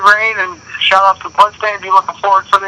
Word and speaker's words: Bludstaind: So it's not blood like, blood off, if you cut yourself. That's the only, it's blood, Bludstaind.